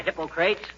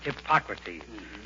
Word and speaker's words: Hippocrates: Hi, Hippocrates. If you are referring to the father of medicine, McGee, it's pronounced Hippocrates.